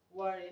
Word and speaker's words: worry: Worry. Now this word is pronounced worry, okay?